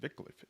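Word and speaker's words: Wycliffe: as those of the Englishman vicliff oh they pronounce it vicliff interesting Black Death the plague my child a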